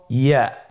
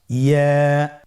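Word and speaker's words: ياء: পরবর্তী হরফটির নাম হল ইয়া পরবর্তী হরফটির নাম ইয়া পরবর্তী হরফটির নাম কি ইয়া ইয়া হরফটি উচ্চারণের ক্ষেত্রে বারিক হবে এবং এক আলিফ টেনে পড়তে হবেইয়া আবার বলুন ইয়া ইয়ার মাখরাজ কোন জায়গা থেকে উচ্চারিত হয়?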